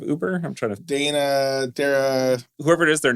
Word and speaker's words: Dara: I'm trying to Dana Dara whoever it is their name is not Travis C no was it zorg yeah their name is not zorg so Dara from Uber Dar is how it's pronounced if you've been listening